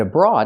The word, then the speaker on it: abroad: word is special abroad normally when we see O8 together it makes the long o sound like Road coat and boat this is the rule this is how OA is normally pronounced with a long o again Road coat and boat o use the long o but abroad is different you have O A making a different sound it makes a sound a like on